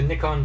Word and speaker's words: Nikon: Now, before anybody gets after me, yes, I know it's pronounced Nikon here in the United States, but that's not how they pronounce it in a lot of other places in the world, including Japan, I believe, which is where their home is.